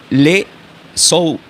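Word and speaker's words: Ἰησοῦς: fue tomado del griego, en el griego le dirían, por ejemplo, eh, le sou, es raro que pronuncia le sou, l e s o u y la s. Así le dirían en el del griego le souus, pero del hebreo se diría Yeshua.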